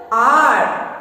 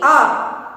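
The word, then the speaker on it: hour: But here H is silent. Here H is silent. So how we are pronouncing this word? R. Okay? R.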